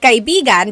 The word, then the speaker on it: kaibigan: So kaibigan is friend. Kaibigan. Do you hear how I'm saying it? Kaibigan. Now, if I change the stress a little bit, if I say kaibigan, that means a lover.